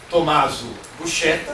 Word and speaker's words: Tommaso Buscetta: Aprenderam, portanto, o Tommaso Buscetta, né? O professor explicou a pronúncia correta, aqui no Brasil.